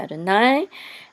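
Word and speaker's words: אדני: And this is Yod He Vav He. Of course, is a sacred name. And we say Adonai.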